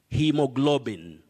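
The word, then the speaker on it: haemoglobin: of otamba girls school you say hemoglobin hemoglobin in that word a and e also combine to form or they represent the long vowel sound e hemoglobin so faith on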